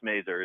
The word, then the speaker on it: Mazur: you do you do have that right it's merer is pronunciation so uh there you go uh so